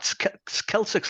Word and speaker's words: Celtx: Celtics, like the word, like the Celtic football team.